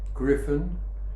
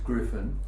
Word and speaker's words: Griffin: r i yeah and it's pronounced with a hard G and the Griffin means